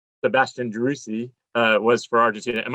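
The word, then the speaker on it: Driussi: then your current teammate uh jerusi i don't pronounce his name sebastian droussy uh was for argentina am i saying that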